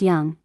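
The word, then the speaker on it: Dũng: said oh I'm sorry my name is dung it's Vietnam spelled dng but pronounced young and it means courageous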